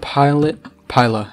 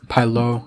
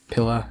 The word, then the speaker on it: Piluh: It's Piluh, it's not Pila or Pila. I mean, I thought it would be pretty easy to pronounce, because it's just, yo, how's the skin moving? You know what, I'm not even gonna question it. I thought it'd be pretty easy to pronounce, because it's just like pi and then la. If it was Pila, it would have two L's, right?